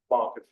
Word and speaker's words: Planck: It's actually a plane, okay, or Planck, I guess it's a German pronunciation.